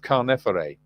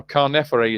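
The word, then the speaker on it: Khaneferre: Now, Carnefere is the way we Egyptologists pronounce these Egyptian names. It's not actually how they sounded, but it's the way we actually we use them when we're talking to each other.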